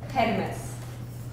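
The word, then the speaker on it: Hermès: different right okay so we pronounce it yeah and Poland heres but a lot of young people they just pronounce it her when they like kind of more more into fashion in the USA we would say heres in Brazil we would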